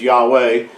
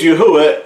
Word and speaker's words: Yahuah: His name is Yahuah, and if you properly transliterate the letters from Hebrew, that's the pronunciation that you arrive at.